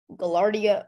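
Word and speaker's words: gaillardia: name and the second part is new Latin gallardia are there any alternate pronunciation for the word gallardia or gallarda gallardia or glarde gallardia or Gallardo may I have the definition please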